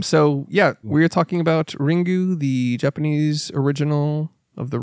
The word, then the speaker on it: Ringu: yeah like so okay this is the correct pronunciation yep you nailed it um so yeah we're talking about ringu the Japanese original of the ring so and